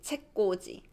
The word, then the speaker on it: 책꽂이: So within one word, we will pronounce the original sound. So it's 꼬지, 책꼬지.